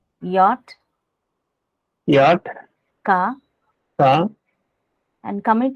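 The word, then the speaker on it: Jot: Like J is called yacht, right?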